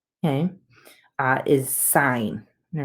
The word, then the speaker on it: sine: e and therefore a lot of people say sin it's not really sin okay it's still sine it's just abbreviation so you pronounce it sine still okay what follows the trig function is